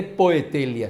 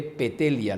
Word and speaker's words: Poetelia: la Lex Petelia Papiria, Poetelia se escribe, pero no se lee Poetelia, se lee Petelia, la OE se lee como E, y es la ley Petelia Papiria.